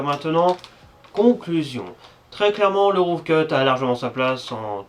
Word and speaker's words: Rough Cut: chiant je sais mais c'est roof cut avec un grand F les anglophones il disent ROF cut donc voilà on est